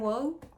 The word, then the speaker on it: Waugh: I've never read Evelyn Waugh. Waugh, that's the way you pronounce it.